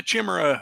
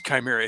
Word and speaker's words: Chimera: going to field my Chimera. I'm like, Chimera. It's Chimera. It's a Greek word. It has a pronunciation.